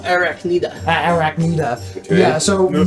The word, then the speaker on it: Arachnida: Anaconda? Arachnida.